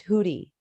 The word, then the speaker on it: Hootie: my love sure and my name is pronounced hoodie oh Hootie oh my